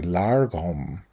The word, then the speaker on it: lagom: in the world and it's pronounced with an r actually largom and i especially want